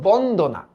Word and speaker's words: বন্দনা: গণ ডান এবার দেখোতো বন্দনা এটার উচ্চারণ উচ্চারিত রূপটা কি হবে বলতো আমরা কি করছি ফাস্টে উচ্চারণ করছি বন হ্যাঁ বন তারপর কি করছি দো তারপর কি করছি না তাহলে এবার বলতো মুক্তাক্ষর